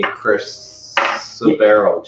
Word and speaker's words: chrysoberyl: and try and if there are any chrysoberyl gems. I was struggling with that pronouncing that mistake.